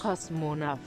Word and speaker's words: Kosmonaut: Le mot cosmonaute vient de la langue allemande. Ça se prononce Kosmonaut.